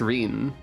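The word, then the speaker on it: Ryne: Won't Let You Down how did I forget it was pronounced Rin I should have inferred that from the way every Final Fantasy name is pronounced slightly differently than you'd expect like Cecil and Titus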